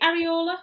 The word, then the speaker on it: Areola: Is it Areola? Is that how you pronounce it?